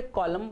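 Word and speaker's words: column: सो एन यहाँ silent है, यहाँ पर भी एन साइलेंट है. तीसरा शब्द कॉलम. हम जब पेपर पे कॉलम बनाते हैं ऐसे लाइंस के या बिल्डिंग के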